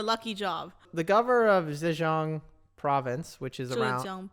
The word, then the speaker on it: Zhejiang: The governor of Zhejiang province, which is around, Zhejiang province.